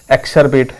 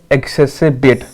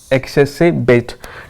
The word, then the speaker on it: exacerbate: देखो पढ़ के यहाँ पे तो पढ़ के कुछ और लगेगा, एक्सरबेट ऐसा कुछ लगेगा, लेकिन ऐसा है नहीं। क्या इसकी प्रोनाउंसिएशन है देख लो, एक्सेसिबेट, एक्सेसिबेट।